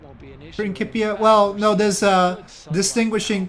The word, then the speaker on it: Principia: I just get annoyed when people correct my pronunciation when it's actually the classical Latin. The problem is there's a modern Latin and modern Latin has the soft C. So, ancient Latin has a hard C.